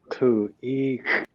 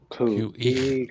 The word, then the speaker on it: Khu.éex’: Yeah, you pronounce it Khu.eex. Khu.eex.